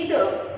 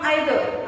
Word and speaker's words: either: या शब्दाचा उच्चार तुम्ही ईदर किंवा आयदर असा करू शकता.